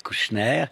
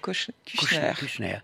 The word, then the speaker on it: Kushner: Kushner. Et ça se prononce comme Kushner, mais ça n'est pas Bernard. Et ça ne s'écrit pas comme ça.